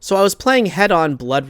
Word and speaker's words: Hedon: there was a point when I was playing head-on blood right yes it's headon not Heaton as I was saying in my last video